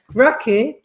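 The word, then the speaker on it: Rakı: Raki, as we should really pronounce it, 4%.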